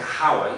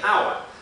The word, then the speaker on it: hour: 44 separate sounds and there are silent letters like in the word hour you don't say how you say hour so so many exceptions